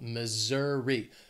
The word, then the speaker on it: Missouri: Mississippi after Mississippi is Missouri this state has three syllables and the stress is on that second syllable Missouri Missouri that s is going to have more of that z sound Missouri then we have Montana